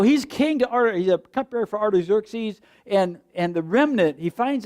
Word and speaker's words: Artaxerxes: Nehemiah was a Jew who was a cupbearer to King Artaxerxes. If you read it and didn't know how to pronounce it, that's how you say it, Artaxerxes. Artaxerxes.